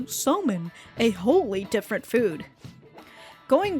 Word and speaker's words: somen: Over time, that pronunciation went from sakube to sakumen to somen, a wholly different food.